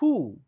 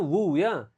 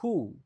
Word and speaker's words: who: Dan yang terakhir adalah "who," bukan "wu." Jadi di sini, huruf 'w' tidak diucapkan. Jadi pengucapannya adalah "hu." H-U.